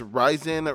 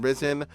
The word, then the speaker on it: Risen: list of rush flops this game is pronounced as ryzen rather than risen this game was not